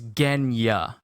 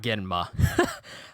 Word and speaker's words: Genya: And it's even causing Genma to be, I'm saying his name wrong, ain't I? It's not Genma, it's Genya, not Genma.